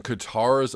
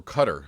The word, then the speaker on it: Qatar: saw today marathoners wilt in Katara's oppressive heat so I guess or cutter excuse me let me pronounce that correctly they're holding a marathon